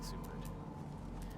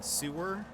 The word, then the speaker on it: Seward: Seward um and also I'm not saying sewer by the way everybody the first time people were talking about going going there was what is this that's a terrible name for a place but no it's named